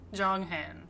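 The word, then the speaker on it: Jeonghan: Next, Jon Han, which according to this video I watched is basically how you say it. Yun Jong- Han Jong Han October 4th, 1995, lead vocalist and visual.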